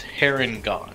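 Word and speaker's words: Harengon: did you pronounce it it's heron gone i was paragon okay like hair and like a rabbit hair and gone um it's a play off of uh there and gone but with the hair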